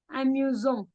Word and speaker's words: amusant: With when the letter S appears between two vowels, we pronounce it Z. Amusant.